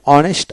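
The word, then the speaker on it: honest: এই বিশিষ্ট সকল ওয়ার্ডের ক্ষেত্রে এ বসে কেবল অনেস্ট আওয়ার অনবর এদের পূর্বে এন বসে।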